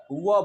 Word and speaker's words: verb: महेंद्रा नहीं लिखा है, लेकिन हम र को, आर को र तभी पढ़ेंगे जब इसके बाद कोई वावेल लगा है, इसलिए इसका प्रोनाउंसिएशन क्या होता है, वर्ब होता है।